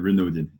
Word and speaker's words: Renaudin: have a big story of a guest Renard in and have I pronounced your name right there yeah it's been do you can say your renewed in Britain okay okay I'll do my best my